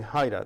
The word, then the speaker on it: Heyda: is just Google Haida that's spelled H ey da last name or you